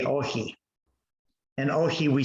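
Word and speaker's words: όχι: And if I were to pronounce that in the Greek, it would say ohi.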